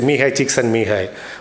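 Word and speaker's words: Mihaly Csikszentmihalyi: It's a very weird pronunciation, but this is how you have to say, Mihai Csikszentmihalyi.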